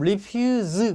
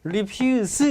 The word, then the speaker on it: refuse: 그럼 refuse 그렇게 발음할 겁니다. 그러면 거절하다야. reject야. 근데 refuse 이렇게 발음했어요. 그러면 쓰레기입니다.